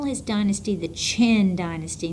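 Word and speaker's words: Qin: And he's going to call his dynasty the Chin Dynasty. Notice it starts with a Q, but I pronounced it like a ch.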